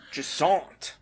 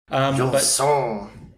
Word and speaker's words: Jusant: Jusant. It's like a French name, isn't it? Yep, I think you don't pronounce the T.